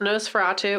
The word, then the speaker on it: NOS4A2: Um so we watched No Fatu, which I did not realize that's how you said it until I read it for real for I was like letters and numbers. It's spelled like a um license plate.